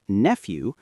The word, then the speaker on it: nephew: Nie sounds like peace and nephew starts with an F sound like a nephew.